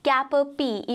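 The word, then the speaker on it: cap-à-pie: कैन यू सी, इसका pronunciation हो जाता है कैपरपी, इवन दो हम पाई लिख रहे हैं, बट वी are going to be pronouncing it एज कैपरपी।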